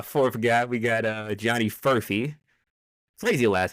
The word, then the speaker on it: Furphy: We got Johnny Furphy. Crazy last name, by the way. I've never seen this before in my life. What do you mean? Like it's Murphy, but with an F.